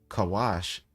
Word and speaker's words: Kush: As a matter of fact, in the scripture, Kawash is how you say what they call Kush.